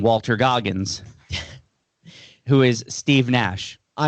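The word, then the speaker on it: Naish: the Canadian basketball player even though his Nash is spelled N A I S H. Oh, so I thought it was Nash, but it's not. It's Nash, cuz they do call him Nash.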